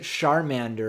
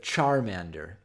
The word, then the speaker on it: Charmander: other I love how he says it sharm ander instead of charmander yeah i don't know